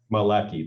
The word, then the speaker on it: Maleki: Maleki.